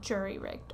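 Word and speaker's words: jury-rigged: It's jury because it's like injury and it goes back to like sailing jury days. Okay, I got to say it like jury rigged.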